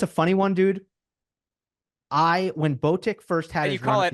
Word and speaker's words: Botic: When Botic first had his run at the U.S.